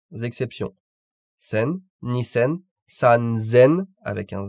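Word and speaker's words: 三千: Sen, nisen, sanzen avec un Z, yonsen, gosen, rokusen, nanasen, hassen et kyusen. Donc sanzen et non pas sansen et hassen avec un double S.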